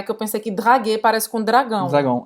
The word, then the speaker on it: draguer: Paquerar, o verbo é draguer. Draguer. Paquerar, draguer. Ou seja, não pronuncia esse R no final, tá?